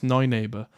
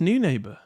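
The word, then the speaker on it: Neunaber: into a compact unit, which can pronounce Neuneighbor. No, I think it's pronounced New Neighbor. We were at their booth. I'm pretty sure they said it's New Neighbor.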